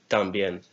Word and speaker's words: también: The last one is también. T-A-M-B-I-E with an accent on the E-N. También. 3.